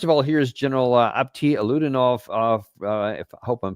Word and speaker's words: Alaudinov: So, first of all, here's General Apti Alaudinov. I hope I'm pronouncing his name correctly. Alaudinov.